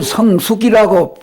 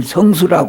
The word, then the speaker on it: 성수: 두 번째에는 일월 성수, 일월 성숙이라고 별숙 잘숙이라고 해가지고 성숙이라고 많이 말을 쓰는데 일월 성수 별수라고 숫자로 발음을 해야지 맞지. 잘숙 별숙 그렇게 숙이라고 하지 않습니다. 일월 성수라고 그래요.